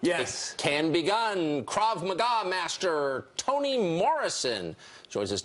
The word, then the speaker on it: Krav Maga: Krav Maga, I'm pronouncing that correctly.